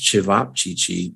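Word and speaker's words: ćevapčići: in asia i hear it's great definitely okay pronounced chivap chichi these are oblong meatballs ground meat rolled into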